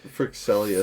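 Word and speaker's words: Fryxelius: This is Kingdom Legacy from Jacob Frixelius, I think is how you pronounce it. The creator of Terraforming Mars. Yeah. Firaxis games? Yeah. Not Firaxis. That's the video game. It's Frixelius. Frixelius, yeah.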